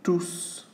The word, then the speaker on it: tous: they are all crazy tous ceux okay so when you print when you use all as a pronoun universe you must pronounce the S and then suckle suckle